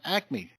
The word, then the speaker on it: Acme: On last night's newscast, the question came up is, how do you get Archibald from Archibald? Well, the same way you get Acme from Acme. You just put an extra A in there.